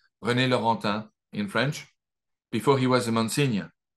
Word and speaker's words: René Laurentin: And just to briefly introduce myself, I worked for a few years with Father René Laurentin, as the American pronounce his name, René Laurentin in French, before he was a Monsignor, and before he became blind, before he passed away in 2017.